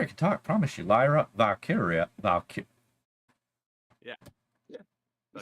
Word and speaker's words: Lyra Valkyria: Promise you, Lyra Valkyria.